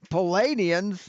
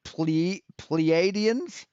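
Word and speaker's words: Pleiadians: Best friends in the last Palladians. You mean pleadenss? You can't even pronounce the word right, man.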